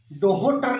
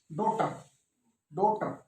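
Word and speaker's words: daughter: जैसे silent H कहां कहां होता है, देखो डॉटर नहीं, डोहोटर नहीं है, डॉटर तो एच है, DAUGHT।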